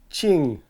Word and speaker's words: 请: tell right now that my pronunciation of "qing" was off. So I'm going to try to pronounce that so that I produce the falling tone like is in the graph there.